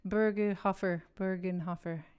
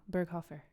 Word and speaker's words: Berghofer: Bergenhofer. It's wrong. Berghofer.